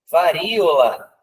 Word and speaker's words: varíola: Varíola está correta também com acento, para forçar a separação de sílabas aqui, né? Ela fica como uma paroxítona. Sauna.